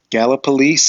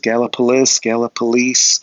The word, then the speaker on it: Gallipolis: And Gallipolis is the little town, however they pronounce it these days. Gallipolis. I call it Gallipolis because I think it sounds cooler.